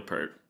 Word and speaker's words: Peart: Like I'm like, no, it's Neil Peart. I mean, you could. I'm sure maybe he like hated it too, but everyone on the planet pronounces it Pert, so you might as well just get Yeah, used to it.